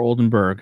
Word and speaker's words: Oldenburg: check out Phillip olden olden borough is it olden borough or Oldenburg how do you pronounce it last name burg okay Rob Richie and